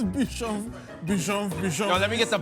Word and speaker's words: bichon frise: Flynn, the bitchin' frizz. The bichon frizz. Is that not how you pronounce it? It's bichon.